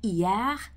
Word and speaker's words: hier: So for example, hier, meaning yesterday, obviously you've got that silent H at the beginning there as well.